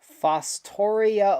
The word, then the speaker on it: Fostoria: Fostoria, Ohio Model Railroad Club. Am I pronouncing that right?